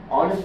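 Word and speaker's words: honest: এর উচ্চারণ হবে না অনেস্ট এইচ এর উচ্চারণ হবে না কিন্তু কেউ যদি মনে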